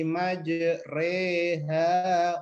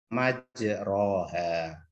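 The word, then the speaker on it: مجريها: kalo Castro kan majreha kalau patahan majroha kita miringkan majreha yaitu bacaan Quran dikasih tanda G Disini di atasnya itu ada tulisan imalah mungkin yang bawa poranda nih cara bacanya dah Hah Majid rehabilitasi habis millahi majreha wa mursaha hal itu bukan majroha wuih majreha kemarin sudah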